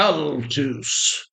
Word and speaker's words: Balthus: belus that's how he pronounced it balazar Kowski de Ral also known as balus balus was a painter from